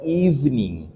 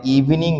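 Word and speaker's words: evening: আমরা প্রায়শই বলি ইভিনিং বলি। তো আসলে এটা ইভিনিং না। আমরা হচ্ছে এইখানে যদি একটা ব্রেকস দিয়ে বলি তাহলে সেটা ঠিক হবে। তাহলে এটা হবে ইভনিং।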